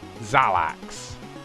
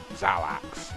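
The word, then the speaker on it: Xalax: is the world of I believe it is pronounced I sometimes get this wrong zalax as in x a l a x zalax I think it's pronounced and believe it or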